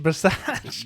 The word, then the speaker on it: Bisaccia: Well, you pronounced it wrong. It's Rich Bisaccia.